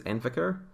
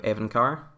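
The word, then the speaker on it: Evincar: For some reason, I keep reading it as Envicar instead of Evencar.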